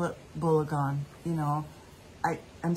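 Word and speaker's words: בלגן: It's just getting just, I call it balagan, you know. I'm saying it right. Yes, okay. Balagan.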